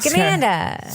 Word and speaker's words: Scamanda: Scamanda. Scamanda. Scamanda. Like Cobra Commander.